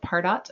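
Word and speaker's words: Pardot: Salesforce just bought a marketing automation product called parot or Paro depending on whether you pronounce it in English or French p a r d o t uh but it's not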